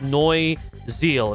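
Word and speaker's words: Neue Ziel: So, I believe it's it's German, so it's like Noi Zeal, if I'm saying that correctly.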